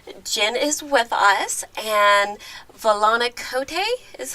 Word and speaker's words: Volana Kote: the cat dish jen is with us and valani cote is how you say it correct that is